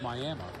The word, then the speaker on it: Miami: Spelled like Miami, but in Oklahoma it's Miami.